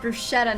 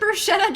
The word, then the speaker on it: bruschetta: I know, I kind of want bruschetta now, dude.